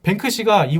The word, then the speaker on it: 뱅크시: 그거 영어 영국식 발음으로 얘기하면 돼. 그대로. 비슷해요. 비슷해요. 아 뱅크씨 성공.